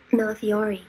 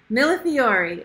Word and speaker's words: millefiori: Millefiori. Millefiori. Okay. Any guesses in the chat? Some of you probably already know what millefiori is.